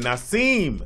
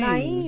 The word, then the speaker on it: Naeem: Not at all. Ain't no S in there, bro. Not nowhere near. What? Who is Naseem. not seen? Naeem, nigga. Naeem. You confused me with Nas. Naeem.